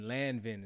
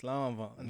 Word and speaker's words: Lanvin: Like you can see when Pusha's telling this chick, yo, it's not fucking Lanvin, it's Lanvin.